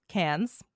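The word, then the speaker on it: Cannes: Did you see the headlines that Ezra Miller was at con cans? However, I'll say it how us North Americans say it. Cans, the music, the sorry, the movie festival.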